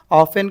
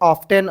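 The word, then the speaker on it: often: ऑफन में क्या आ गया, टी आ गया। बहुत सारे बच्चे प्रोनाउंसिएशन करते वक्त में ऑफन को भी क्या पढ़ते हैं, ऑफ्टेन, ऑफ्टेन पढ़ते, उसमें कन्फ्यूजन होता है।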